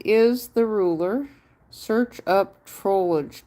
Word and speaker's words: Trollge: Am I saying it right? Troll. Troll or Trollage? I mean, there's no E between the L and the G, but Trollge.